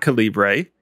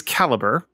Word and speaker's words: Calibre: I have been told it's not Calibre. It is Calibre.